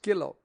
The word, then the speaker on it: Killow: like an Undertaker's Widow that's Mrs killow rhymes with vow very appropriate too and